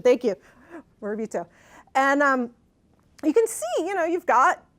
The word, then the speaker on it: Morabito: I was like trying to remember the pronunciation. Thank you, Morabito.